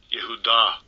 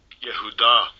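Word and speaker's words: יהודה: Let's listen to how he pronounced this one. Strong's H3063. Yehuda. Yehuda. Yehuda.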